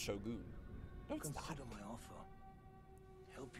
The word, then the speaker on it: shogun: It's pronounced shogun.